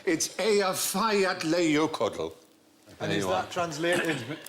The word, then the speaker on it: Eyjafjallajökull: And I think, actually, the way you're supposed to pronounce it is... Hutch. If only. It changes it. Apparently, it's Eyjafjallajökull.